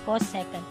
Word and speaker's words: cosecant: is called cosecant a so csc is pronounced as cosecant a and that is